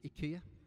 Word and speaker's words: IKEA: It should be pronounced IKEA, according to the latest adverts.